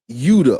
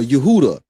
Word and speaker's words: Judah: And that is there's a slave coast in Africa, and it's not spelled Judah, but it's pronounced Yuda or Yehuda.